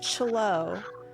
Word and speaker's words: Chloe: Her name is Chloe. Like CHLOE, Yes. the way I used to pronounce Yes.